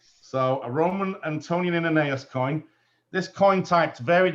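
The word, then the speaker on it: antoninianus: How do you pronounce that? Antonianeus? Yes, Antonianeus. So a Roman Antonianeus coin.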